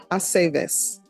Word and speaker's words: Aceves: I never know what to do with the V's either. With what, ma'am? The V's, in the names to pronounce it correctly. It's always ve. Ve, Aceves.